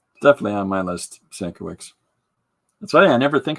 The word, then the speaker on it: Sienkiewicz: Sienkiewicz is how the traditional pronunciation would be, but his family's anglicized it, so. Definitely on my list, Sankiewicz.